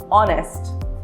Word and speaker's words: honest: It is pronounced with the letter sound of O, honest. Although it starts with an H, right?